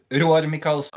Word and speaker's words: Roar Mikalsen: Your name in English looks like Roar, but it's pronounced differently in Norwegian. Do you want to just say it just so? My name in Norwegian is Roar Mikalsen.